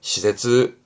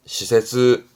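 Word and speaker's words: 施設: 발음은 시세즈, 시세즈.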